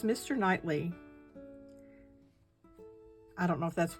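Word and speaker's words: Knightley: Hartley. Nightly. It's Nightly.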